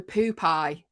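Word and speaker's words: Poopeye: Okay, how do you pronounce P-O-O-P-E-Y-E? How would you say it? Oh, it is Poop-Eye.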